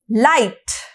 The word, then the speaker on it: light: तो इसके अंदर कौन कौन से लेटर साइलेंट है? इसके अंदर G और H साइलेंट होगा, और इसके सामने लाइटर है उसके अंदर भी G एंड H साइलेंट होगा।